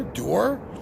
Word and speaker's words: Duhr: I know it's Duhr the U is pronounced like the double O like June sound so you are door I think I'm saying